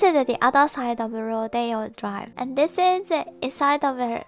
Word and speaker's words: Rodeo Drive: It is pronounced Rodeo Drive.